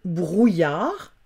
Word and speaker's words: brouillard: Le brouillard, bre et OUIL, ça fait brouille, yard. Brouillard, avec un D qui s'écrit et qui ne se prononce pas.